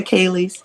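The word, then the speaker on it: ceilidh: Don't forget the Kalies.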